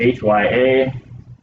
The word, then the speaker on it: hyaline: So hyaline is spelled H-Y-A-L-I-N-E, hyaline.